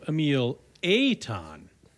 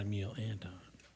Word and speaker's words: Emil Aton: well, I mean, they've heard of Emil Aton, but not Emil Anton. So, pronunciation is important.